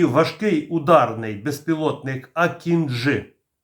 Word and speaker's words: акінджи: і важкий ударний безпілотник акінжи наголос на останню букву для компанії байкаar важливо